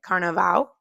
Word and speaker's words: Carnaval: And we actually went for Carnival, which in Brazil they pronounce it Carnaval.